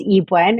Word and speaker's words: Ebuen: my name is my last name is pronounced Ewen in case people are looking at my name and don't know how to pronounce it uh pronounce she and